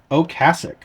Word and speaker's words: Ocasek: Rick Ocasek. That's how you pronounce his name, okay? I see it all over online where people are like, it's Ocasek or Ocasek or Ocasek. No, how I pronounce it is absolutely 100% correct.